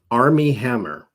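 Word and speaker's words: Armie Hammer: by the name of army hammer i think that's how you say his name a-r-m-i-e who was on a tv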